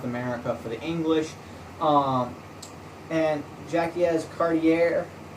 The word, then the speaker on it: Jacques Cartier: John Cabot claimed the mainland North America for the English, and Jacques Cartier, or Jack Carter in English pronunciation, journeyed up the St.